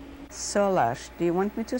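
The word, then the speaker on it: Solarz: is Salah Bond what is your maiden name solash do you want me to spell it for you yes please s o l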